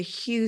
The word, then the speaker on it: HU: I pronounce it HU. HU. You'll hear Sufis pronounce it HU.